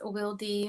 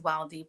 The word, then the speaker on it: Wildy: Some people pronounce it as Wildy, but I am Dominican American, and my name is pronounced in Spanish.